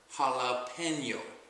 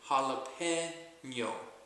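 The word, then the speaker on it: jalapeño: a p e n y o and just pronounce it all together as one word jalapeno Hala pen is in your right withth and Y jalapeno jalapeno and that's how you pronounce this word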